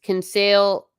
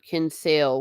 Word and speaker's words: Kinsale: hello Atomic Ranger 76 can sale not can fail one more did I